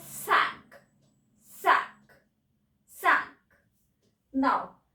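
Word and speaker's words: cinq: Now 5 is sink and we pronounce as sank.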